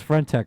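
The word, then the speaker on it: friend.tech: What the hell is Friendtech, Jorge? Did I say it right? Is it Friendtech?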